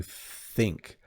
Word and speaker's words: think: Again, you do see the tongue with the TH sound.